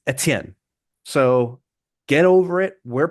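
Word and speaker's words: Etienne: Even in French, this new Achan thing, that's not how you pronounce his name in French. It isn't. In French, it's uh Etien. Not Achan. It's Etien.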